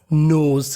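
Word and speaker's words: knows: कठिन परिस्थिति के लिए नो वन कोई नहीं नोज क्योंकि यहां पे एन से पहले के है तो हमें के का उच्चारण नहीं करना नोज कोई नहीं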